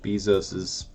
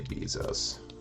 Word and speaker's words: Bezos: money is just going right back into Jeff bezos's pocket and I do know it's pronounced Bezos I just like to say Beezus it's more fun to say and I hate